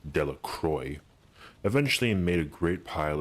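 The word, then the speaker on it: Delacroix: Harry Jones mcki delacroy the villagers pronounced his name delacroy eventually made a great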